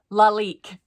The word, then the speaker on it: Lalique: And she put pronunciation, LOL, Lalique, because she knew I would say it wrong.